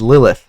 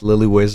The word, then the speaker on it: Lilith: But anyways, oh her name is Lilith. I guess I should probably call her that instead of trying to pronounce Lilywiz or whatever.